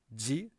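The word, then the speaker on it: じ: It used to be the case that ji and this one, ji, were pronounced differently, but nowadays we pronounce these the same way. So these are both just ji.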